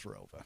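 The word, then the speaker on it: ROWVA: an additional town added after I graduated, but it's always been pronounced as Rova.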